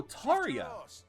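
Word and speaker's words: Tarja: on oh no oh Taria okay Taria so so Taria that would be Norse that would be a Norse name because Norse Norse pronunciations tend to use the J as a y yeah bolade uses a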